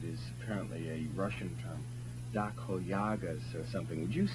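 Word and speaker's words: доходяга: it's pronounced, it is apparently a Russian term, dakhoyagas or something. Would you say it? I've been dying to ask the correct pronunciation of that word. Dakhadyaga. Dakhoyaga. Dakhadyaga.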